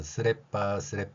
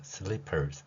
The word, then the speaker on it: slippers: 또한 우리가 흔히 일상생활에서 쓰레빠 하는 이 발음이 실제 발음은 slippers 이렇게 발음할 수 있죠. 리을 2번 대신에 한 번만 표기하고 일본인들은 어 발음을 못합니다. 어 발음을 못하기 때문에 아 발음을 하고요. 받침 리을을 아예 생각조차를 할 수 없기 때문에 여기에서 빠 발음으로 끝나는 것이죠.